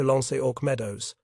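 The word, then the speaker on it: L'Anse aux Meadows: remote fishing village called Lancio Meadows. The name itself was intriguing. Li Medus is French for jellyfish bay, but local pronunciation had corrupted it to Lonok Meadows and Meadows was exactly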